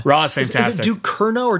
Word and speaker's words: Ducournau: Is it Ducournau or Ducerno? There's no squiggle under the C, and that's how you know it's an S sound in French. So I believe it's Ducournau.